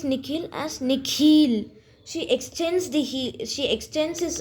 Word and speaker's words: Nikhil: The way the principal pronounces his new name is different from the way his parents say. The second part of it is longer, sounding like heel.